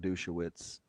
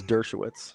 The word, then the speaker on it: Dershowitz: Yeah, I mean, you're giving me some Alan Dershowitz vibes over here, Dream Team guy. I think it's Dershowitz. My bad. Did I mispronounce that?